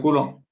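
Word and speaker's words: coulomb: لو كولون. البي ما تنطقش نقولوا كولون.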